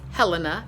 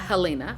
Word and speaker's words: Helena: I am now in Missoula Montana and it's Helena not Halina I heard them pronounce it on the radio we'll see what tomorrow